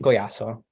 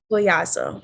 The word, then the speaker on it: Collazo: it's gonna be Colazzo, but in the Spanish accent, it's gonna be Collazo. Collazo. Okay, I figured because the double L, so I was like, but I Yeah. didn't butcher it. So Collazo. That's how you say it.